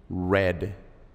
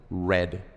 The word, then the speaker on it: read: pronunciación es diferente se se pronuncia como el color rojo read red en el pasado se escribe igual pero se pronuncia diferente se pronuncia red muy bien Drive se